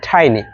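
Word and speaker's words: tiny: Third one টাইনি, এটাকে আমরা টিনি বলে থাকি, বাট রাইট প্রোনাউন্সিয়েশন হবে টাইনি। Then the next one shared.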